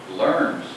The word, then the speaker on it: LERMS: This is to provide a custom, is it pronounced LERMS? LERMS.